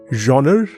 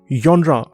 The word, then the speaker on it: genre: It is pronounced in 2 ways, genre or genre.